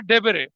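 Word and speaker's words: debere: उसने एक term use करी है डेबेरे। इसमें ई साइलेंट है। डेबेर कहते थे उसको।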